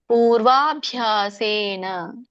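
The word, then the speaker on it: ಪೂರ್ವಾಭ್ಯಾಸೇನ: ಹರಿಯತೇಶವಶೋಪಿಸಹ ಜಿಜ್ಞಾಸುರಪಿಯೋಗಸ್ಯ ಶಬ್ದ ಬ್ರಹ್ಮತಿವರ್ತತೆ ಇದರ ಒಂದು ಉಚ್ಚಾರಣೆ ಪೂರ್ವಭ್ಯಾಸೇನ ಪೂರ್ವಭ್ಯಾಸೇನ ಇದನ್ನ ಬಿಡಿಸಿದಾಗ ಎರಡು ಪದಗಳಾಗುತ್ತೆ ಪೂರ್ವ ಅಭ್ಯಾಸೇನ ಪೂರ್ವ ಅಂದ್ರೆ ಹಿಂದಿನ ಅಭ್ಯಾಸೇನ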